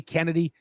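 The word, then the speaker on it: Chennedy: They say Kennedy. Kennedy is how you spell it. C-H-E. Kennedy. C-H-E. They call it Kennedy.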